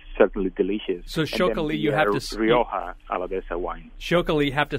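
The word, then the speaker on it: Txakoli: delicious youa Alaba wine shok have to spell that for us that's a fun one yeah we spell it TX a t k o Ali right ch ch ch okay and well you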